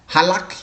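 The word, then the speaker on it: halach: Halak, unique. So you need to know how to pronounce it.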